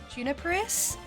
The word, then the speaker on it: Juniperus: that's easier too but the way that you pronounce my username is juniperus it's like a Genus that juniper trees come from so I thought that